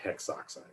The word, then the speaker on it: hexoxide: So we would drop that A and it'd be hexoxide. And that's just a rule that makes it a little easier actually to pronounce these.